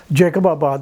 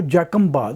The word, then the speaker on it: جیکب آباد: آباد پڑ گیا تھا۔ جو لوکل بلوچ لوگ ہیں وہاں پہ اور جو سندھی بھی ہیں، ان کے تلفظ میں وہ جیکم باد ہے، اور وہ جیکم صاحب بہادر تھا، جیکب ان کے منہ سے نہیں نکلتا تھا، جیکم۔ تو یہ جیکب نے